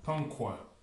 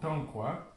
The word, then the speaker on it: Tankwa: Vous voyez, c'est juste le A qui est ce qu'on appelle nasillé, qui se prononce, au lieu de se prononcer A, il va se prononcer An. Donc, ça fait le mot Tankwa, qui signifie les pirogues de papyrus.